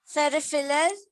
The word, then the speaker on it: peripheral: Okay, it's peri, P-E-R-I, peri. Feral, PH gives the sound of F, like it is phone, P-H-O-N-E.